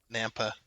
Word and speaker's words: Nampa: and we'll trade between Napa Nampa and that's the way it's pronounced we will be constructing